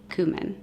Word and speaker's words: cumin: been powdered, chili powder, and cumin, or some people pronounce it cumin.